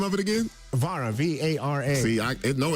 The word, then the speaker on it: Vara: Vara, V-A-R-A. See, I know it's fancy if I can't spell it. Yeah, I know that's right. Not Valero, but Vara.